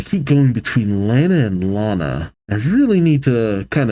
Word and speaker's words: Lana: Aw, I keep going between Lana and Lana.